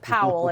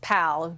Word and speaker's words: Powell: and uh so he was like we don't pronounce it Powell it's Powell you're p-a-l Claire Powell and and you guys